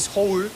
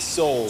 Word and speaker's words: Soul: Is it Seoul? Yeah, like soul.